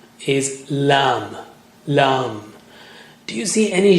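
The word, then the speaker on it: ل: fixture emitting lovely light lamb how do you say lamb touch the tip of the tongue to the upper gums near the root of the teeth so if if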